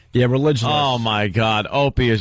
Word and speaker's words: Religulous: It's religulous. And they're going off ridiculous.